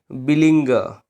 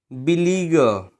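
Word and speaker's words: beleaguer: चलिए बिलिंगर। बिलीगर, नॉट बिलिंगर, बिलीगर।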